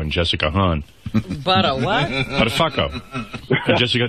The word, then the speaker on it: Buttafuoco: Buttafuoco. Jessica, that's how you say it, if you're Italian. I think it's Buttafuoco, if you're...